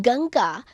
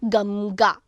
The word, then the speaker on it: Ganga: In Ganga, before G, we pronounce Ng. That is not Gamga. Anuswara means So we are not saying Gamga.